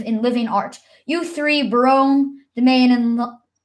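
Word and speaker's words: Berowne: room broom oh ok yeah I was correct Barone awesome cool ok Ferdinand of Navarre Barone longaville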